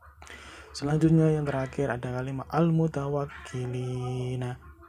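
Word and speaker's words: المتوكلين: Selanjutnya yang terakhir ada kalimat al-mutawakkilina. Dibaca al-mutawakkilin. Hukum bacanya adalah mat arli sukun karena ada mat tabi'i diikuti dengan huruf hidup lalu dibaca waqaf.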